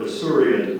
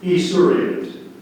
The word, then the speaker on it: esurient: Mariana always tried to get to the dinner table before her esurient brothers. Part of speech, please. It is an adjective. Are there any alternate pronunciations? There's one. Esurient. Esurient.